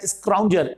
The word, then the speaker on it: scrounger: अगर हाँ, इसका एक शब्द और सिनोनिमस होता है स्क्राउंजर, SCROUNGER।